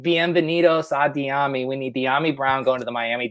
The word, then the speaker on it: Dyami: some Dynasty rookie drafts, and it's Dyami. Yeah, all right, you nailed it. It's not spelled like Miami, despite what people may think out there.